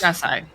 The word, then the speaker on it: Gasai: Where's the syllable stress? It's technically on the first syllable. It's Japanese. Gasai.